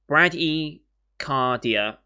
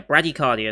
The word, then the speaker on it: bradycardia: 60 and 100 times if you're uh braggy cardia yeah bradycardia is how you pronounce it heartbeats fear of your